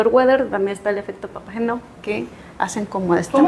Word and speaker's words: Papageno: Así el efecto Weather, también está el efecto papageno, que hacen como este ¿Cómo match. se pronuncia?